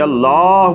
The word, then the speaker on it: اللہ: ہے، صحیح نہیں ہے۔ اس کو صحیح لفظ اللہ کو پر کر کے اور لمبا کر کے پڑھنا لازم ہے، استغفر اللہ۔ بے شک